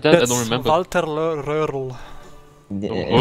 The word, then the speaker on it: Röhrl: Walter Röhrl. Yeah. Said Röhrl. that. Röhrl. Okay. That's really the German pronunciation of that. Walter Röhrl. It's the German real one.